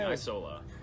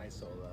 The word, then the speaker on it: Isola: How do you pronounce it? I've been saying Isola. Say Isola.